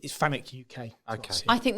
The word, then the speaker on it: FANUC: say I hear I hear both but it's fanuc UK I guess I think that's just potato